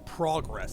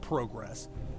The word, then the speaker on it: progress: 33 weekend i know the american way the word is pronounced is progress like it's p-r-a-w but i hear the guys talking with the guys with the company and they called it progress so i'm good with